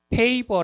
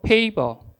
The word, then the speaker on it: favor: 이것을 무엇이라고 이야기 하나면 페이버 라고 하는데 한번 따라서 해보세요 페이버 에 미고 제 아랜 입술을 깨물 라고 했는데 바르면 좋아서 그냥 한국말로 페이버 라고 발음 할게요 페이버 근데 이것을 한국말로 번역하면